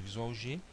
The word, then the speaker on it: VisualG: vamos trabalhar com um software chamado visual G tá ou visualg como alguns pronunciam tá esse software é